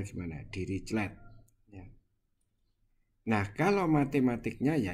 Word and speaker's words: Dirichlet: Itu disebut sebagai ini apa bacanya gimana? Dirichlet.